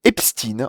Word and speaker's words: Epstein: Les professionnels du petit écran sont unanimes, on dit Epstein en décomposant bien les deux syllabes. Voilà, c'est important, les amis, de décomposer bien les deux syllabes. Le stine se dit comme dans le mot français rustine, le prénom Justine, ou encore le médicament cystine.